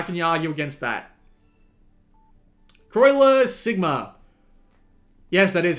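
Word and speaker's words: Croixleur Sigma: Croiler Sigma. Yes, that is how you pronounce that.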